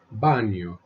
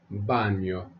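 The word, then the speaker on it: baño: cosina Cuba Carro Cocina the Enya is pronounced like an N followed by a y there is a plane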